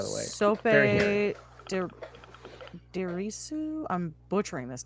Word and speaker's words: Dirisu: Sope Dirisu. I'm butchering this name. I'm so No, sorry. you're right. Dirisu.